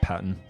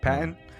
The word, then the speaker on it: Patten: That's how you pronounce it? Yeah, Patten. Patten.